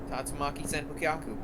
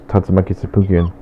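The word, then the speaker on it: 竜巻旋風脚: Oh, you say it like that. Alright, fine, make me feel like an idiot. I say it like how they say it in the game, which was Tatsumaki Tsubuken.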